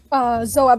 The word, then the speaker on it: Zoab: Zoab. That's how you pronounce it.